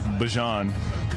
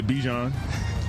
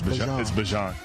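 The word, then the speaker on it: Bijan: How you pronounce my name is Bjon for everybody that's that's out there. Um I know a lot of people say Bjon, but it's Bjon.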